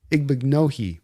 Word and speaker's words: Igbinoghene: see from Brissette and Igbinoghene for that matter. Yeah, it's Igbinoghene. I learned how to pronounce it because it kind of rhymes with mahogany.